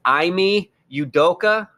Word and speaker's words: Ime Udoka: I'm going to be close because I have been looking up pronunciations. It's Ime Udoka.